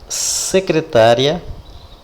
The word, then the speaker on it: secretária: Eu havia escrito secretária, cuja sílaba tônica é acentuada, é tá.